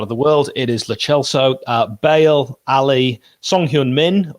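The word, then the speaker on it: Lo Celso: hoiberg and uh lately it is actually le chelsea that's how you pronounce it but everyone says la sell so so we'll just go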